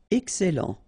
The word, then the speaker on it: excellent: Excellent. Okay, you've got double L here, and then it will open the sound of your here, and it will be E.